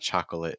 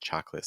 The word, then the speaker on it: chocolate: of Catholic just Catholic chocolate if you're a chocolate fan again it's not chocolate it's just chocolate these are examples of